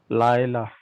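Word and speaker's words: לַיְלָה: Laila. Laila. Laila. See, this comets He is a long vowel which is attached to the Lamed.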